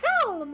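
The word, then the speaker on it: Kalm: We've reached Calm, or Calm, as I will pronounce it from now on.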